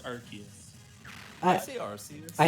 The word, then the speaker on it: Arceus: uses rayquaza and archaeas yeah how do you pronounce arceus i don't know that one it's it's it's it's arceus i see this i say arceus i'm lazy